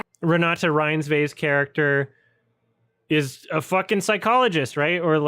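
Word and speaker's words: Renata Reinsve: How do I pronounce it? Hello, my name is Renata Ryinsve. Ranata Rinsve's character is a psychologist, right?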